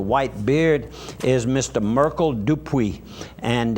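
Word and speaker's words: Dupuy: Merkel Dupre, and they pronounce it Dupre. It's D-U-P-U-Y, and that family comes from the Avals Parish area.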